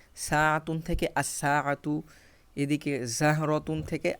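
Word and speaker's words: الساعة: রজুলুন থেকে আর রজুলু, র, এখানে সরাসরি উচ্চারণ হচ্ছে, লাম উচ্চারণ হচ্ছে না। সাআতুন থেকে আস-সাআতু, এদিকে জাহরতুন থেকে আজ-জাহরতু।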